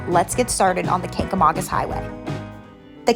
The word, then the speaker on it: Kancamagus: Hampshire once told me, if you can say August, you can say Kancamagus. So let's get started on the Kancamagus Highway. The Kancamagus Highway is a 56-mile